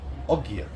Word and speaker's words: Ogier: Odgir does not work. So they dropped the D. Ogier.